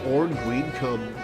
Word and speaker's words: Orn Greencomb: I'm saying it exactly as it looks like it's pronounced.